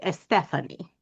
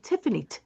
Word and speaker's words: Tiffany: So when I'm speaking with um, Spanish speaking folks, they Okay. typically will say Stephanie. Okay. And so, depending upon my mood, I may say Tiffany, like I will, phonetically, but usually, if I'm just okay, I'll just say Stephanie.